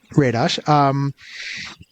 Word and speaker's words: Radosh: with, humor writer Radosh, who, am I pronouncing that right, or is it Radosh? Mm-hmm. Yeah, Radosh, who has been a part of a couple of things.